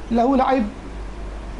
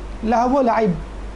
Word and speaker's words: لہو و لعب: لہو لعب، لہو لعب لوگ کہتے ہیں عموماً اردو میں، لہو و لعب، عربی میں آراب لگائیں آپ تو آپ کو پتہ چل جائے گا.